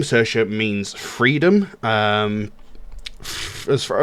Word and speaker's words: Saoirse: a new track called cersa now it might not look like it but that is how it's pronounced some people might not know that that is how it's pronounced cersa uh it goes along